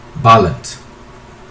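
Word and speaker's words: Bálint: It's Hungarian, by the way. Okay. And you pronounce it as Bale. Balent.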